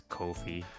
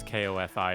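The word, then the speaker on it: Ko-fi: I'm pretty sure it's Kofi like the Japanese. It's like buy me a coffee. In Japanese, the romanization is Ko Fi and it's pronounced Kofi.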